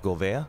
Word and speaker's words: Gouveia: and make sure I have your last name pronounced correctly Jeff Gouveia yes yeah okay good job thank you thank